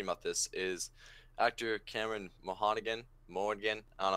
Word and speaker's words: Monaghan: Now, what got me thinking about this is actor Cameron Mohannigan, I don't know how to pronounce his last Monaghan. name. Monaghan.